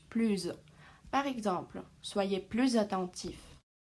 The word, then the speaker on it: plus: plus vite que moi attention devant une voyelle ou un h muet on fait la liaison donc en prononce plus par exemple soyez plus